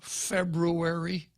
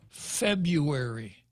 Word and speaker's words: February: did you know that there are two hours in February it ain't February it's February February February okay so the card